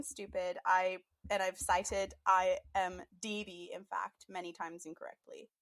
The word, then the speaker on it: IMDb: apology for my dumbass for every time I've mispronounced the Internet Movie Database acronym which is in fact I am DB and for some reason